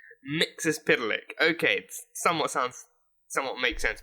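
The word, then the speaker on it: Mxyzptlk: I'd just be like, just not getting anywhere near the actual pronunciation, and then hearing him say the name, Mixes-Spitalik.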